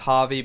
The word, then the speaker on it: HRVY: I believe it's pronounced HRVY, but it's spelt without the vowels.